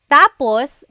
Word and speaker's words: tapos: context of the phrase so when it's when the emphasis is at the endus that means finished when the emphasis is on the first syllable tapos then it means next interesting there very interesting